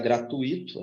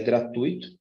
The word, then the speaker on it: gratuito: tenho um ditongo gratuito cuidado com isso não é gratuito O pessoal mais antigo tem o costume de pronunciar gratuito essa palavra mas é gratuito e Judeu também eu